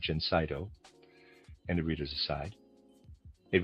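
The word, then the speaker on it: Gencydo: For this condition, we have our Jenseno preparation reader aside spelled Ge N C Y D O. I'm pronouncing that Jenseno and a reader's aside.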